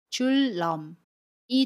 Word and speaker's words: 줄넘기: 한 걸음부터 천리 길도 한 걸음부터 저는 매일 줄넘기를 해요 여기에서 줄 넘을 볼게요 아침 밀 뒤에 첫소리 자음 이은의 왔습니다 그러면 첫소리 자음이 은이의 2일로 발음 해요 그래서 줄넘기 2대 요 첫소리 자음 미운 l 밀로 발음합니다